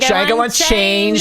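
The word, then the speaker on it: Django: the D is silent the D is silent Chang this movie came out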